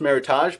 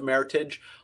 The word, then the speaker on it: Meritage: martha meritage often pronounced meritage but the correct pronunciation rhymes with heritage and this is a